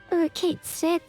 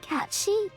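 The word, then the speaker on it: Cait Sith: Yeah, that was kind of like why I was really irked when I heard that his name was pronounced Kate Sith instead of Catchy.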